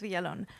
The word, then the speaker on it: Von: Oh no, it is Von.